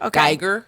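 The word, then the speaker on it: Guyger: that's been going on in Dallas yes with ember greiger is that how you say her name a Giger yeah yeah and so the brother of the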